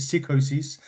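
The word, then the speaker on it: Psicosis: But yeah, he he was on his psycho there's loads of ways you can pronounce it. I pronounce it psychosis, but I have heard it psychosis as well in WCW.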